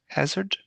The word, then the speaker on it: Hazard: So, I'll just briefly say introduce us or you uh I guess your surname is pronounced Hazard.